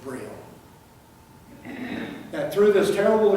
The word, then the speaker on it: Braille: was at all now I pronounced their name in the way that the French would pronounce her Brady but in English we would pronounce that Braille and that through this